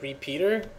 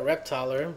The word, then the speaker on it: reptyr: command line program called well he pronounces as repeater I usually call it reper but whatever you want to call it so man repeater uh